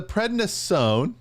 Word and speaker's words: prednisone: of all heart disease okay yep now the prednisone did i say it right yes you got